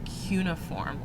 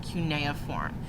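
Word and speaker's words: cuneiform: with a written language called cuniform or CA form you can pronounce it either way they are both correct either one is fine you have a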